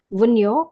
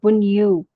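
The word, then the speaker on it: Wunjo: this it is called wo this J is silent wo or Wu see it looks like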